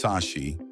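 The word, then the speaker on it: Sași: Old Brashov was founded by Saxons, pronounced Sashi in Romanian, who arrived in the Transylvania area after 1211.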